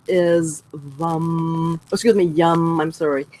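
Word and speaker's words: Yam: Okay, so the syllable or the sound is yum. I'm sorry, Y-A-M, but you pronounce it like yum.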